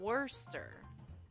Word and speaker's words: Worcester: whole entire thing so in massachusetts they call it wurster but it's spelled word chester sire oh really yeah